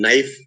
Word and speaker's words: knife: resign G is silent, or in knife K is silent, or in mnemonic M is silent.